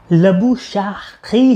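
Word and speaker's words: Labuschagne: लबुशान का जो असल नाम प्रोनाउंस किया जाता है ना, जो उसने खुद किया हुआ है वो लबुशाखी है.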